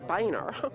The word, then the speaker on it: Boehner: replacing speaker john boehner no it's boehner not boner but that's not the way it's spelled john boehner let's just hope that